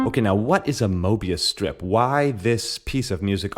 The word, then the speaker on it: Möbius: well a meria strip it's actually spelled with an umlout m o with the umlout b i u s I'm going to say mobus for the rest of this episode but uh let's let's